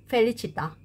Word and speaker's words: felicità: 그러면 해석을 한번 들어가겠습니다 펠리치다 행복입니다 여기서 알파벳 c 이탈리아에서는 바람이 이런 소리입니다 영어 발음에이 소리가 있고이 소리가